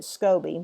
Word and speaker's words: SCOBY: They call it I pronounce it scobby, which in my video I did catch myself calling it a Scooby because that's what I used to be silly and call it that.